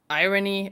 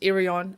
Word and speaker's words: Irion: a name wrong also Naomi irony it's irion okay um I'm very passionate